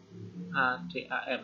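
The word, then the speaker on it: אָדָם: Nah, ini harusnya suku kata tertutup dan tidak ada penekanan, harusnya adom ya. Tapi ternyata bacanya ADM, ADAM, Adam ya. Adam.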